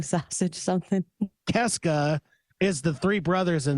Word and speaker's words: Kiszka: Keska is the three brothers in the band, right? But isn't it like it's pronounced Kiszka. Kiszka. That's right. Yeah, yeah, it is Polish.